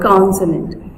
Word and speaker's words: consonant: And see, for example, see this word consonant. Consonant. We are speaking, pronouncing this word in 3 units. Consonant. Consonant. Consonant. Con सबसे higher हमने यहाँ पे stress दिया. Consonant.